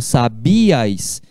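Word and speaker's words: sabías: Então, ó, quando eu falo sabias, eu falo sabias. O acento está ali no I, justamente para identificar que ali é um hiato, sabias. É diferente de falar Paraguai. Paraguai. Guai é uma sílaba só.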